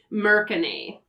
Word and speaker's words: mercane: gonna talk about the mercony and I'm gonna pronounce it that way because technically they are merchants of all things magic items and where so I'm thinking Merchant American a yeah thank you for